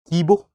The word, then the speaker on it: Kibo: So, there is There is Now, these are of course will be having some local pronunciations also. We'll try and give it the best possible attempt. So, this is Kibo in the center.